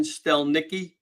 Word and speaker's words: Stelnicki: Doctor, correct pronunciation, Stelnicki.